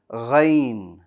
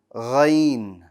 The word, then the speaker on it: غ: Ghain. Ghain. Ghain. Very good. Let's talk about Ghain. Ghain is another bold letter. Strong. The back of your tongue is going to rise. And it has no air.